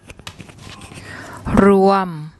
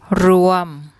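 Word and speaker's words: รวม: So when you see this W in the middle, it actually makes an ua sound. I'll let Pom give you the pronunciation. Ruam, ruam, ruam.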